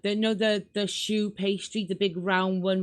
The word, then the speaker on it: choux: No, choux bun. Oh. It's a big, thick, round bun. Show pastry. That's it. No, yeah, choux. That's how it's pronounced. Choux.